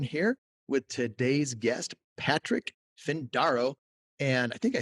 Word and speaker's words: Findaro: Eric Van Horn here with today's guest, Patrick Findaro.